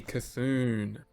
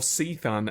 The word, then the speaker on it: Cthulhu: Cthulhu. Or Seathun, as I have heard it pronounced before. I cannot support that pronunciation, but I have heard Seathun.